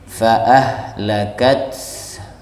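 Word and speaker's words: فَأَهْلَكَتْ: Nah, ini bacaannya fa'ahlakat. Jadi ada bunyi ha, bunyi taknya juga dibawa ya, haknya juga sama. Fa'ahlakat, fa'ahlakat, fa'ahlakat ya, ulang lagi sama-sama.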